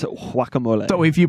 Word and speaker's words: guacamole: he said it wrong if you pronounce it in the Spanish way of saying it it is wacamole so if you pronounce